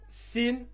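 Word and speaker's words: سين: La sin et le swad. Donc ici c'est s et ici c'est so avec la bouche pleine. D'accord? Ici c'est s avec sifflement. Hein, et ici c'est la bouche pleine. So.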